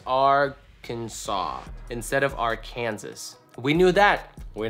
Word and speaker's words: Arkansas: Arkansas. Right? Is that how it is? Not Arkansas. Arkansas should be referred to as Arkansas instead of Arkansas.